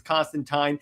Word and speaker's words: Constantine: And a a Hellblazer if I remember that his name rhymes with fine, so it's Constantine.